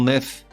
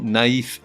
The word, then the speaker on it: naïf: Ainsi, on ne dit pas « Patrick est un grand nef », mais « Patrick est un grand naïf », N-A-I tréma F.